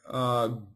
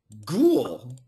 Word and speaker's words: ghoul: Ghoul. Ghoul. Santa Reyes wants the pronunciation for that. Ghoul. In America, we say ghoul. Ghoul. Yeah, just like cool, C-O-O-L, but ghoul.